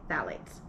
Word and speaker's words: phthalates: i checked and that is how you say phthalates so you're going to want to make sure